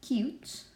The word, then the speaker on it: cute: Or for example, with cute, again, we don't pronounce the E, and you say the name of a letter.